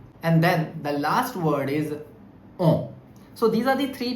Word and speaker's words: en: Similarly, the last word, which is en, and the pronunciation is on, and if I write the word avion, which means plane, so the pronunciation is on avion. So here n will also be pronounced because the word avion, which means plane, has a vowel. So on avion.